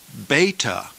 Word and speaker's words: beta: father ah Alpha ah beta is pronounced as the b in the word baby b beta B GMA is